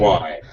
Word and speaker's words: whine: whine. It's Yeah. always easier to whine. There you go. Whine. That's So it. the Exactly. pronunciation is like wine, drink.